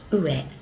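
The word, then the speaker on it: 上: And we can see that's something going above the ground, and it's pronounced ue, ue, above.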